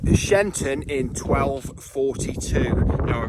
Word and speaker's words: Sheinton: church which comes to shenton church or shyon church shinton I think it is pronounced correctly um and all the money